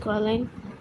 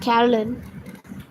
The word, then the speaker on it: Coraline: No, said Coraline. The old man shrugged. They're funny, the mice. They get things wrong. They got your name wrong, you know. They kept saying Coraline, not Caroline. Not Caroline at all.